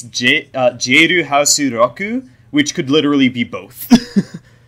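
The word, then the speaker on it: ジェイルハウス・ロック: but in Japanese, it's Jeiru Hasu Roku, which could literally be both. So both are right. Lock and Rock are pronounced exactly the same in Japanese, so fuck it.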